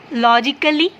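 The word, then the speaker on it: logically: लॉजिकली, कल, सी का sound ख आता है ना, कल ली। ए का साउंड यहाँ कहीं भी नहीं आ रहा, ये ए साइलेंट है, ओके।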